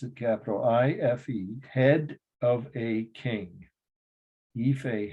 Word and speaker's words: Ife: Ife, that's how you pronounce it, capital I-F-E, head of a king.